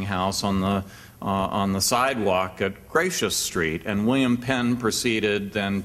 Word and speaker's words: Gracechurch Street: And so the Quaker meeting house on what's spelled like Gracechurch Street, but I gather is actually pronounced Gracious Street, was closed.